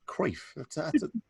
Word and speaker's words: Cruyff: think it's called um don't mispronounce it like every other englishman please it's kreef kerf oh that's very